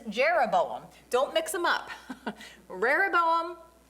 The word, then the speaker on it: Jeroboam: And I'm just going to put his name up here because it's Jeroboam.